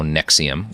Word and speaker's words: NXIVM: a treasure Trove of new information about how Nexium which if he remembers the name of his cult spelled like in X so confused like an [